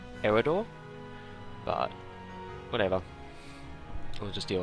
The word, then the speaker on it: Eador: some quick things uh idol is pronounced idol in the opening cinematic so i'm assuming that's right um personally i would have i would have pronounced it eredore but whatever i'll just